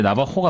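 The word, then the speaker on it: Navajo: 우리나라 제이긴 한데 나바호가 맞을 겁니다. 정확한 발음이 그건가요? 이게 약간 이 스페인어식 발음이에요. 한번 스페인어식으로 해가지고 한번 스페인어식은 나바호. 나바호. J를 호로 읽거든요. 호.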